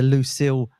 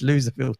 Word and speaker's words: Loserville: He pronounces it the Lucille tour, but it's not right. It's Loserville tour.